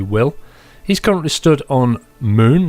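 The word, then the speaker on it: Mün: he's currently stood on moon that's spelled muu n and the U has an um out on it uh this is not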